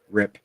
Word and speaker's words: Rip: It's Rip. Brett. It's a one syllable word. Rip.